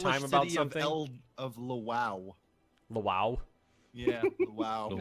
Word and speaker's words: Lwów: a hard Polish time about city something, of Lwów. wow. Yeah, Lwów. It's actually Wow. pronounced Lvov, if you want to know.